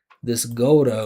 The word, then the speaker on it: go to: So stop saying tuh-GOH-duh. Stop saying go to.